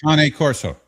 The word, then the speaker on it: Cane Corso: You know, we also have people that breed uh the How do How do you pronounce it, Jeff? I I I I I don't want to Cane Cane Corso.